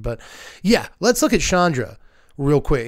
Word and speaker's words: Chandra: in a second but yeah let's look at Chandra real quick it's it's pretty good looking card honestly but yeah Chandra or as they kept saying on stream Chandra which I had never I didn't know that's